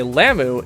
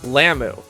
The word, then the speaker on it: Lum: Lum, or should I say Lamu, is voiced by Claudia Thompson.